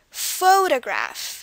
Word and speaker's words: photograph: emphasis so from that we can deduce that the stress is on the foe part of the word foe so the stress is on fo photograph the rest of it kind of like follows after photograph okay moving on to